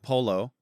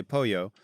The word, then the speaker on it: pollo: You can't say like I'm going to have polo. You say pollo.